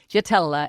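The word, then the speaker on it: Jaitela: But the JT, the JT is the combining element because Gatella is spelled with a J. J A I T E L A. So JT Jatella.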